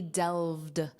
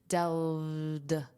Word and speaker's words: delved: The study delved. Notice that pronunciation. This ED is just pronounced as a soft D. Delved.